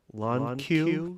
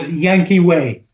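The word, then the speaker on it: Llanquihue: Steel Sculpture at Lake Lonque. Did I get that right? I forget. Maybe close enough. Oh, Yankee Way. Yankee Way. Got it.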